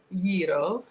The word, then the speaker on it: gyro: This summer was Egypt, last summer was Greece, and I had a proper gyro. That's how it's pronounced.